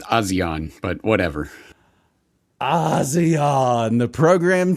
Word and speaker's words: ASEAN: James, do they pronounce it ASEAN, ASEAN? The Association of Southeast Asian Nations? I'm just going to say Asian. I think they go with ASEAN, but whatever.